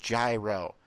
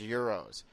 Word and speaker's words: gyro: And for all those people who don't know what a euro is, it's not pronounced gyro. It's pronounced euros.